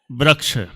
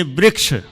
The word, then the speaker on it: वृक्ष: जैसे अपन बोलेंगे बुंदेलखंड के बोलते हैं वृक्ष वो भी अशुद्ध है। सही है। वृक्ष वृक्ष ये शुद्ध है। और महाराष्ट्र अथवा उधर तरफ के बोलेंगे वृक्ष। सबका अलग-अलग उच्चारण कोई बात नहीं।